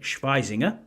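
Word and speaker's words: Schwesinger: So the first one is Carson Schweizinger, who is a linebacker out of UCLA, and I used the German pronunciation there.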